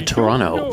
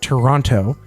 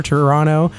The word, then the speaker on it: Toronto: and she pointed out everybody who's American says it Toronto cuz you see a second T and I believe in